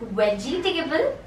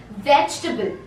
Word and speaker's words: vegetable: Are you pronouncing it like vegetable? It's wrong. It's pronounced as vegetable.